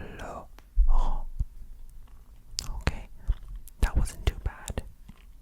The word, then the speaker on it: Laurent: Laurent. Laurent.